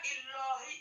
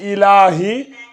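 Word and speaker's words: إِلَٰهِ: On dit pas illahi. Voilà, c'est ilahi. Voilà, mais quand c'est Allah, le lam, il est tafkhim.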